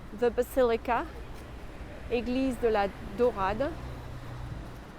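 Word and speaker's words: Daurade: basilica eglise de la dorada it's spelled d-a-u-r-a-d-e but it refers to the fact that there were golden mosaics as in dore in french d-o-r-e there was a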